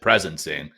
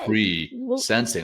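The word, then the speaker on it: pre-sensing: name of the method I said presencing instead of pre sensing I didn't I didn't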